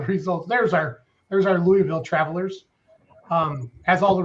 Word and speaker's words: Louisville: is it Louisville or Louisville uh drop the eye out of this just uh it just comes from way back in your throat Louisville Brett I don't